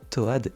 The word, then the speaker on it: Toad: Normalement, ces deux personnages se prononcent Tod et et Todet le petit lapsus révélateur. Personnellement, je prononce les persos Toad et Toadette.